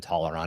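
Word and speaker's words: Tallarn: guess toar to to you keep adding an a to it tolerant is t a l l a r n yeah yeah I'm saying you're I'm saying you spelled it right I'm saying you're pronouncing an extra a yeah you are oh I'm putting an N taller n it's like how never every single pronunciation I have ever heard it's been taller on I've never heard somebody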